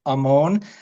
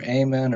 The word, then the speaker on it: Ammon: It's it's pronounced Ammon. It's like the name Ramon without an R.